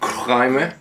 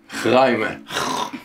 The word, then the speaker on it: chraime: Today we're gonna cook chraime, which is How do you say that? Chraime. What? Which is a Moroccan Chraime. dish, very North African. Chraime is actually an Arabic word, that's why it's so deep.